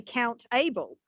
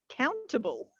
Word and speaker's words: countable: count table and we can't say count able it's countable countable yes but the problem